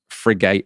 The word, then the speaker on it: frigate: Also, lots of people pointing out that I pronounced frigate wrong because it's not frigate, it's frigate, apparently.